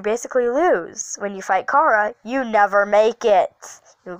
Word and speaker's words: Chara: please do not criticize me for pronouncing her name wrong chara cara cara cara Chara it doesn't matter however